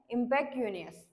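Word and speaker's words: impecunious: सी य एन आय ओ एस तर याच प्रोनन्सिएशन आहे इमपॅक्ट युनियस तर याच मिनिंग काय आहे हविंग लिटल नो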